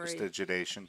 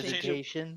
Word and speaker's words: prestidigitation: Prestigitation. Press Um, yeah, thank you. prestidigitation.